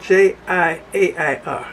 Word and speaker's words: Jiair: It's spelled J-I-A-I-R, Jiair.